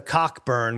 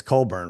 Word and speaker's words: Cockburn: So whatever happened to Cockburn, which you can't say it that way. It's Colburn, right?